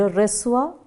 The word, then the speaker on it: reçois: Okay, just below that you have the accent called cédille, just to give a little difference in its pronunciation. So it goes, je reçois, tu reçois, il or elle reçoit.